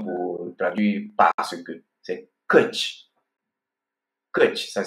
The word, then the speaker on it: căci: Il y a même encore une autre expression pour traduire parce que, c'est căci. Căci, ça s'écrit C-E-C-I.